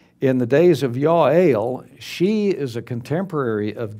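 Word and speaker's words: Jael: It's pronounced Yale. In the days of Yale, she is a contemporary of Deborah.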